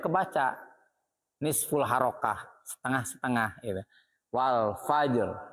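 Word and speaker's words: والفجر: Wal fajr. Nah, harus nampak. Kalau wal fajr, ro-nya hilang, berubah makna.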